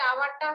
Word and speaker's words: hour: Hourটা হচ্ছে আয়ের মতো উচ্চারণ, এজন্য an হবে।